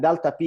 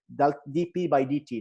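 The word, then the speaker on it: dP/dt: okay is equal to so I want you to pronounce it correctly rather than Delta P you should be specific and say DP by DT now Delta P is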